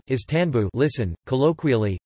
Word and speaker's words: İstanbul: The name Istanbul, Turkish pronunciation, is Tanbu, listen, colloquially, Tanbu, is commonly held to derive from the medieval